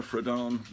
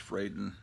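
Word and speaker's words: Fradon: metamorpho great artist Ramona fredon or actually I think it's actually pronounced frayden Ramona frieden I was I've always pronounced it in my mind like it's a Spanish name and say fredon but it's frightened she's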